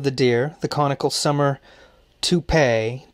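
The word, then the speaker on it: topay: deer the conical summer toupee t-o-p a-y not spelled like the hair piece is still in use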